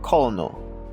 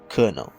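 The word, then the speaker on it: colonel: the actual pronunciation well the first one you might think this is kono as in colony but no it's called kernel next one if you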